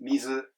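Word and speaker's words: みず: But mizu, this is the same in Kyoto ben or Osaka ben. It's just mizu, high high, not low high.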